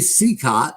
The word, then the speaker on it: Cicotte: We'll be playing Game 3 off of the Monday schedule coming up, and it's Eddie Cicotte.